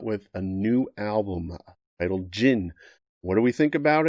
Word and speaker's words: Djinn: album and it's titled jin but it's spelled d-j-i-n-n so the d is silent kind of like aerodactyl